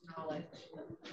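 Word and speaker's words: Nolej: Yeah, Robin said that what I was saying, N-O-L-E-J, is pronounced knowledge.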